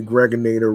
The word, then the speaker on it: Gregonator: I'm your man, aka the Gregonator. Rhymes with now or later, just like the candy.